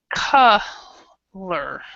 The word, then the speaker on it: color: a good example okay when you have an O and two consonants behind it the o is always ah before the concert consonants yeah so like my